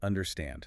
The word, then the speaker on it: understand: The word understand. The stress is at the very end. Understand. Understand. If you put the stress on the first syllable, it sounds completely wrong.